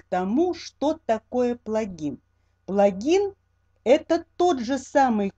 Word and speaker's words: плагин: Но вот то, что я взяла вот эту информацию из Википедии, Википедия говорит нам, что нужно все-таки ставить ударение на плагин.